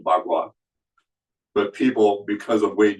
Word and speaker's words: Bagua: That's the correct pronunciation, Bagua. But people, because of Wade Giles, pronounced it Pa Qua, because that's the way their language book spelled it, P-A-K-U-A.